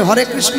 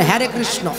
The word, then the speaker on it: হরে কৃষ্ণ: আমেরিকার থেকে যারা ইস্কনে এসেছে, হরে কৃষ্ণ উচ্চারণ করতে পারে না, বলে হ্যারে কৃষ্ণ। কেন? ওরা ইংরেজিতে কথা বলে, উচ্চারণ করবে কি করে?